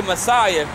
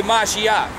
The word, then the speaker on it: Mashiach: Well, we say Messiah, but it's really Mashiach. Okay, the English way of saying is Messiah.